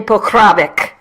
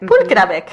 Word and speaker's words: Pokravic: And the reason I'm saying my name in a Spanish-inflected accent is because people who speak Spanish are the only ones who ever say it correctly. Well, it's very just phonetic, right?